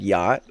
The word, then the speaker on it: Yacht: In German, we write yacht the same, but we pronounce all the letters.